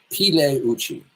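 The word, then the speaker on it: Pigliucci: His name is Mas Masimo Puchi which is silent plei ple uchi masan pleuchi.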